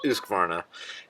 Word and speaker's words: Husqvarna: loved the Husqvarna 400 cross Husqvarna again properly pronounced Husqvarna is probably going to take the cake for